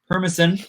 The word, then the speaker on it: Permison: It is actually Ryan Permison.